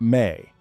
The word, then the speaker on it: me: The Sumerians had a concept they called the Mi, pronounced roughly like may.